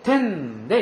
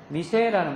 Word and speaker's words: 店: 때 단독으로 쓸 때는 이것이 미세라는 말로도 익힙니다. 그러니까 파스트푸드 미세 이게 아니고 파스트푸드 텐 그 다음에 가게라고 하는 거 샵 자체를 별도로 이야기할 때는 미세라고 읽는다는 거 알아두시기 바라고요.